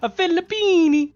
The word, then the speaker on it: Filippini: Fabio, a Filippini.